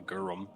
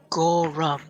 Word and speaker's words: Gorum: Once we're done in there, I'd probably go over to the Gorm. Gora. Gorm? Gorum.